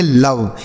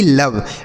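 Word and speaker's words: love: ये होगा इसका सही उच्चारण। इसे हम पढ़ेंगे कम। एल ओ वी ई तो इसे पढ़ेंगे लव। एल ओ वी ई लव।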